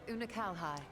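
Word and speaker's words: Unukalhai: void you remember unakalhai oona kalhai oh my god that was like the moment i saw him like oh we're gonna actually learn how to pronounce his name oona kalhai oo na kal hai got it una calhai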